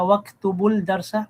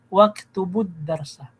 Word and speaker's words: واكتبوا الدرس: Ganoon din sa waktubul darsa, mali. Waktubud darsa. Naam. Pero tama na yung pagbasa mo, ya ayyuhat tullabu udkhulul fasla wajlisu waktubud darsa.